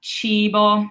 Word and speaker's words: cibo: So in this word, we have cibo. So it's a long E sound, cibo.